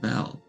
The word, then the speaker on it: Bel: in the possession of Belle and his Forge I want you to bring it to me now like the god of murder sorry pronunciations Bell b-e-l a good I wanted